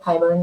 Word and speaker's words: Hybern: And then this Hybern, or is that how you say it? Hybern, yeah.